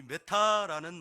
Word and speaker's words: 메타: 우리말로 번역할 수가 있어서 번역을 했는데, 이 메타라는 말을 번역을 해서 같이 붙이면 이상한 말이 되기에 그냥 메타는 그냥 메타로 남겨놓은 것 같아요. 이 메타라는 이 말은 헬라어에서 유래했는데 발음이 똑같아요. 메타.